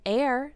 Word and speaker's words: heir: other gaseous elements an air spelled h e r the H is silent is a person when